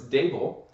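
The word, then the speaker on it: Daboll: So it's Dable.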